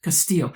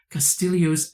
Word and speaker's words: Castillo: They're telling me to make sure I say Castillo, not Castillo. And I wonder, is this Castillo's acid test, which determines